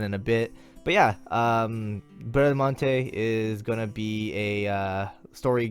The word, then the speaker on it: Bradamante: In Japanese, it's pronounced Bradamante, so deal with it. English, I think it's Bradmont.